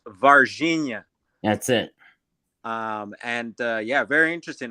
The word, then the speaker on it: Varginha: It's pronounced Varginha.